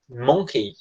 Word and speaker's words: monkey: Monkey. Mas a pronúncia é monkey, tá? É como se esse O fosse um A e esse Y, ele, de novo, 99% das vezes ele tem som de I.